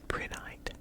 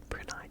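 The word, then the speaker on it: prehnite: a pretty one too this is brynite i think that's how you pronounce it brunei p-r-e-h-n-i-t um it's kind of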